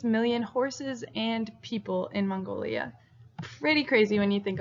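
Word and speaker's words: 몽골: Okay, so Mongolia is pronounced Mongol.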